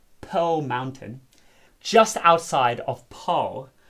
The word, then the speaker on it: Paarl: The Oukraal, used to be a well-known campsite on top of Parelberg, Pearl Mountain, just outside of Paarl, which is colloquially pronounced Parel.